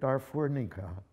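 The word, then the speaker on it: Darfurnica: bag on the other she called it darfurnika rhymes with guenika explaining it was meant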